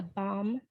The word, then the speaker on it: BHoM: And she's going to be presenting the BOM tool, which is spelled BHOM.